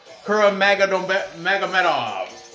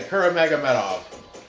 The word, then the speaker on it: Kuramagomedov: So let's get right into this, starting off with the welterweight fight between John Doomsday Howard and Ramazan Kuramagomedov. What is it? Yeah, I said it right. Kuramagomedov.